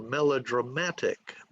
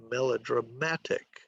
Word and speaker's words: melodramatic: A 5-4 word is mathematician, mathematician, or melodramatic, melodramatic, okay?